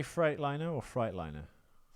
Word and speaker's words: Freightliner: Does it really say Freightliner or Freightliner? It says Freightliner, Okay. but Fright spelled F-R-E-I-G-H-T.